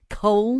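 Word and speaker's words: Colne: I don't really know how you pronounce that. Col C O L N E on the end.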